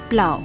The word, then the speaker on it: plough: Farmers use this tool plough. It should be pronounced as plow.